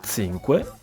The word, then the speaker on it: zinque: Per pronunciare il numero 5, si dice "zinque" con un suono "z", come il "th" nella parola inglese "thing".